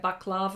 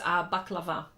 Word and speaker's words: baklava: Some people say baklava or anything like that. But in Greek, it's baklava. That's how they say it.